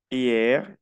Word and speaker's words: hier: La H no se pronuncia en muda.